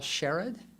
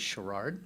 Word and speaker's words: Sherrod: Michelle Sherrod, who I insist on pronouncing as Sherrard, but people keep correcting me.